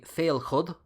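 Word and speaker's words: Féilchad: The CHAD part would have been pronounced Cud in Old Irish. So names like Murchud and Donachud in Munster, but are today pronounced Murcha. So this would be Féilchud.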